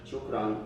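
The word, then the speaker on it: شكرا: like pronunciation Shukran.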